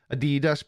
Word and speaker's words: Adidas: Sorry, Americans, but in the UK, it's Adidas. Apart from all the young hipsters that are Americanized and say Adidas and Garage and other Americanisms.